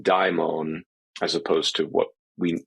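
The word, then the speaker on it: δαίμων: So that is the old transliteration of the Latin transliteration of the Greek, which preserves the original diphthong die in daimon, as opposed to what we, the English version of this demon is downstream of it.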